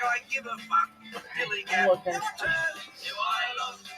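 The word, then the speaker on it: DILLIGAF: And I can relate to their attitude too, in a word, dilly-gaff. That's spelled D-I-L-L-I-G-A-F, dilly-gaff.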